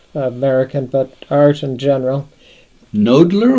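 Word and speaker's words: Knoedler: but art in general nodler or noddler uh I call it nodler I believe that's how they pronounce it they were active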